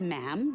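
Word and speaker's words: ma'am: majesty and after that it's just mam rhymes with jim and it's always a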